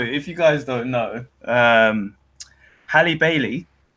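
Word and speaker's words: Halle Bailey: you guys don't know Hallie Bailey I said it right Hallie belly Bailey I said it wrong the second time not Haley Barry hey Hallie belly Bailey it's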